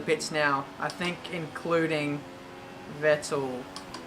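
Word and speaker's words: Vettel: now I think including vetal or fetal as a lot of German people tell me to pronounce but now we're in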